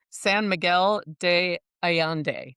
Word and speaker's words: San Miguel de Allende: San Miguel de Ayande. Miguel. Perfect pronunciation to notice.